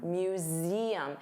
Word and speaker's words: museum: So notice you have that voiced Z sound museum, and there are three sounds museum, museum, museum.